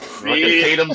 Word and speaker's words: Tatum: Tatum's only 2 syllables. You got it. Tatum. Like Tatum.